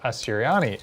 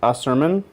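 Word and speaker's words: Asurmen: correct people's pronunciation of asiriani it's pronounced ah su he's saying there's no they're saying there's no i sound at the end oh it's a suryan a series like a sermon the guy yeah yeah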